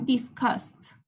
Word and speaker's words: discussed: Y el pasado sería discussed.